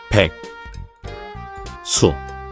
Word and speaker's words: 백수: The pronunciation, when broken down, is, 백, 수, but naturally flows as.